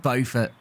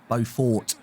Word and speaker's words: Beaufort: And next in is Luke Beaufort. Not Beaufort, as I've been mispronouncing so far this year.